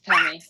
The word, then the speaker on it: Temi: Please let me know if I'm pronouncing this incorrect. Is it Temi? Yeah, it's Temi.